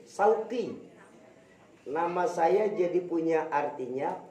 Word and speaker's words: Syauqi: Tapi ketika tadi MC memanggil saya dengan nama Sauqi, benar belakangnya qaf tapi depannya shin, sin. Bukan shin, tapi pakai sin, Sauqi.